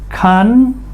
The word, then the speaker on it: contraction: The emphasis is here. Contraction. Con has a short o sound. Con tr tra. DRT, track, TION sounds like SON, shun, nation, nationality, TION together makes the SHON sound, shun.